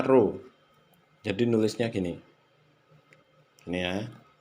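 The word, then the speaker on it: ρ: dibagi dengan volume benda ini bacanya roh jadi nulisnya gini hai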